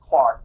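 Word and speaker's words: Clerk: the Scottish pronounce things wrong but it was pronounced Clark but it was felt apart he had studied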